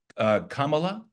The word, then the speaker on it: Kamala: If you look at Kamala, which is how you pronounce her name, which I've been told.